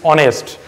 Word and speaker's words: honest: air and this is honest so you are pronouncing it with the vowel sound not the consonant sound only for this as